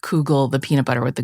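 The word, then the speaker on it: Koogle: do you spell it it's like k o o g l e yeah I know it sounds like like noodle cougle or whatever but it was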